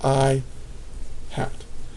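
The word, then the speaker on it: î: this is just how you pronounce it it's pronounced i hat now it's a it is a vector that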